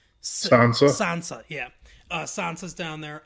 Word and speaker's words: Sansa: Sansa.